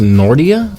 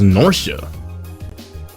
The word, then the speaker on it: Nortia: of my shoe that's right the province of nortia is tasked with managing it while grinir mines refines and processes the IR it's pronounced nordia I thought it was Nora an iron is the single most vital natural